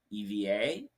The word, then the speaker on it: EVA: Like the Starlux founder was originally at Eva Air or EVA, sorry, Mm. is I believe the correct pronunciation, Yeah, as EVA.